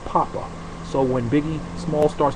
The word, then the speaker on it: papa: your people Pope okay Pope actually would have been pronounced Papa so when Biggie Small